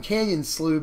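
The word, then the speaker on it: Canyon Slough: going to play that one canyon slew because and that is how you pronounce it I had to look that up but anyway we're going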